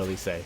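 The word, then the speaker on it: Lyse: the first place so I also call her lycée because that's that's how they pronounce it in njp now there's a lot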